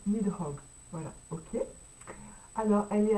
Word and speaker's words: Nidhogg: Oh, je sais plus comment ça se prononce. Nidhogg.